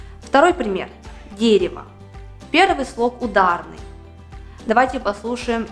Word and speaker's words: дерево: вот возьмем другой пример пишем дерево произносим дерево в обоих словах у